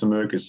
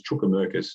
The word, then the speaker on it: Sumerkis: because a ground announcer couldn't pronounce Sumerkis and pronounced it as Chukamerkis.